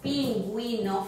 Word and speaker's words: pingüino: If the U comes in one of these combinations and it is supposed to be pronounced, you have a sign for that. It's a long, complicated word, which I'm not even going to mention it, but you have the word pingüino, for instance, pingüino, and you're going